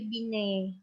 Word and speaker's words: Binet: adalah tes Binet namanya bukan Binet ya bacanya tapi bineh pengennya dihilangkan ya mengukur inteligensi dengan menggunakan